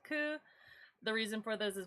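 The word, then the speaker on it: 九: Another unlucky number is in Japan is the number 9, pronounced ku.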